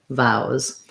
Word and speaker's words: vows: So vowel versus vows just has my ow sound, my ow diphthong, and a Z sound, vows.